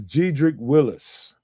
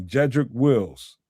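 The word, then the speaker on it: Jedrick Wills: This is Gedric Willis. Wills, excuse me. Jedric Wills is that that's the proper name way to say his name.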